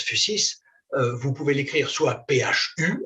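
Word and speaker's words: physis: presque toujours en fait le mot fusis je prononce fusis vous pouvez l'écrire soit Phu sis soit phy SIS de toute façon c'est euh c'est la même prononciation on prononce en général donc fusis fusis est apparenté en grec à un terme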